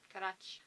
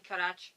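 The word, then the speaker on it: Carax: If I remember my Catalan pronunciations, X is a ch sound. Carach.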